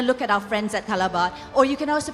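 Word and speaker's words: Callebaut: I'm going to look at our friends at Calabat or you can also pronounce as calibu tid. Oh, it's wrong. So YouTube is wrong. So it's so calabad is right because I use a lot of calabat in my baking.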